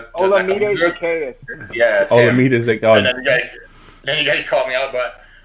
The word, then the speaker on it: Olamide Zacchaeus: Olamide Zacchaeus.